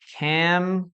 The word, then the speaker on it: camera: We have camera, camera, okay? We only has two vowels, camera, only two vowels, okay, guys? We never say camera, no, camera, no, camera, camera, okay?